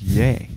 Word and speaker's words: Ye: i was always saying yi but it's yay it's the end of his name kanye well that makes sense